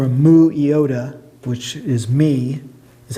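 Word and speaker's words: μι: Remember, if it's got an omega ending or a mu iota, which is me, is how you pronounce that, like diknumi.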